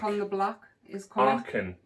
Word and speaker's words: Archon: Archon, not Archeon.